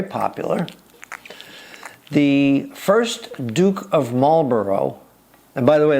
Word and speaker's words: Marlborough: the first Duke of Marlborough, and by the way, there's more silent letters in Marlborough. There's a GH at the end that you never pronounce, but that's another story.